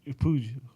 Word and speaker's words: Puig: Ricky Puig. Oh, however the fuck you say his last name. You said it right. Puig, whatever.